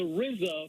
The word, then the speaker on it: RZA: I quote there goes the Rizza from the wuang clan it's spelled RZA educating the people I